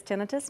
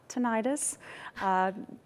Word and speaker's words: tinnitus: one questions I get is how is it's pronounced and it is tinnitus not tinnitus that is the uh most people want to